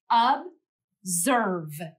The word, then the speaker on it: observe: The O in this word is making the schwa sound, so it doesn't make the O sound that you expect. Instead, it says ob. Now, let's try writing our second syllable. Observe. Zerve. Write down the letters that you think match the sounds that you hear. I'll do that also. Zerve. Zerve. Again, in this syllable, you might have been tricked by the S.